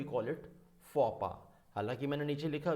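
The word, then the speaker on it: faux pas: इसको तो काफ़ी लोग फॉक्स पास पढ़ते हैं. फॉक्स पास होता है बट नॉट द फॉक्स पास. Exact pronunciation क्या है? फो पा है. प्रोनाउंसिएशन इज फो पा.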